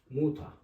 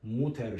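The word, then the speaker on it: Mutter: çok önemli Hari birimi kelimenin sonunda e ve r ile bitiyorsa a gibi okunur örnek olarak mesela de Fata baba demek de Fata ya daa anne yazalım Muta anne yani kelimenin sona e ve ile biti a gibi ö fater ya da muter şeklinde değil de Fata ve Muta Bunlar da artikeli ben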